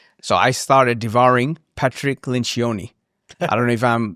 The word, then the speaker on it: Lencioni: So I started devouring Patrick Lencioni. I don't know if I'm like... Patrick Lencioni. Yes, pronounce his last name.